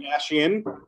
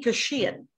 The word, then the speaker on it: Kashian: No. No, it's Stay-Kashian. Because Stay-Kashian is like vacation. And I named it that in the hopes that people would name my would pronounce my name right.